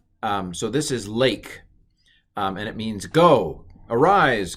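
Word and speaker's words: לך: But of course, just to make things hard, it's pronounced A. Don't ask questions. That's A. So this is lake, and it means go, arise, go.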